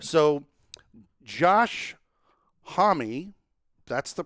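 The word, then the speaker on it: Josh Homme: shows like some of them daily right so josh homie that's the pronunciation yeah i didn't know that until i listened to his show i always thought it was josh holm but it's joshua yeah yeah of queens of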